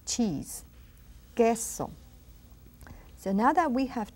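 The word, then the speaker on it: queso: of those rules that you don't pronounce the U it is silent G what or which and then you don't hear that you right we don't say but small gesso it's cheese gesso so now that we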